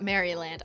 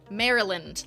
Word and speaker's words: Maryland: I feel like we've gotten so many letters from Maryland and we don't pronounce it Maryland. I know it's like Maryland like Marilyn Monroe, right?